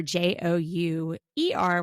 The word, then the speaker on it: jouer: Basically, the difference between having an orgasm in French and playing is an I or an E. It's Jouir, which is orgasm, or Jouer, which is play.